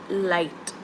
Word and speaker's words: light: Light. Good. G is silent.